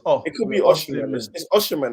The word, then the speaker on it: Osimhen: It's Osimhen. It's Osimhen. Osimhen. Okay, cool. Yeah. I've heard like 6 different pronunciations on the 6 different people's videos.